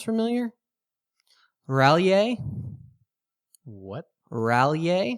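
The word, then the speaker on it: R'lyeh: Rallier. What? Rallier. How do you spell that?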